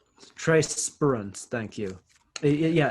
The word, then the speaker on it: Spruance: Trey Spruance. Trey Spruance, thank you.